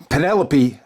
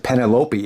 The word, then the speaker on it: Penelope: We got Hikaru Shida defending her women's championship against Penelope Ford. I always pronounce it Penelope. It's Penelope.